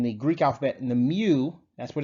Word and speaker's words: mu: s sigma in the greek alphabet and the mu that's what it's pronounced like it looks like an m and